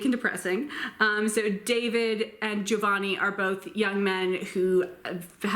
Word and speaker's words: Giovanni: pronounced in 3 syllables, Giovanni. It is not Giovanni. In Italian, when an I comes after a G, it's there to tell you how to pronounce the G.